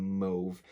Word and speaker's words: mauve: kind of within that same mauve mauve however you want to pronounce it i like mauve i like the sound of mauve better than move and i'm pretty sure canadians say mauve and i don't like